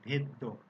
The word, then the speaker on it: ভেদ্য: ভেদ্য, এখানে খেয়াল করো এই যে দ দুইবার উচ্চারণ হচ্ছে ভেদ্য, এজন্য কিন্তু আমি এমনটাই লিখেছি, তোমাদেরকেও এভাবেই লিখতে হবে পরীক্ষার সময়।